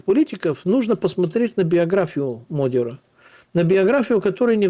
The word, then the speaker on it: Magyar: А какие варианты у этого Европейского Союза, особенно после выигрыша Модиора, это так произносится по-венгерски, Петя Венгр, это так переводится, Петя Венгр, Петруха Венгр, потому что Модиор означает венгр.